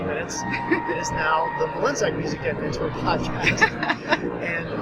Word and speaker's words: Mlynczak: Mlynczak. Depends on if you're doing it with the proper Polish vernacular. Polish. Yeah. There you go. It's a little more guttural than I'm used to, being just.